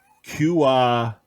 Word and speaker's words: Cuautitlán: July 29th at the Cuautitlán assembly plant in Mexico. I don't know. Say it again. Where's it from? Cuauti. No. Say it. I don't want it spelled. Cuautitlán. That's exactly how it's said.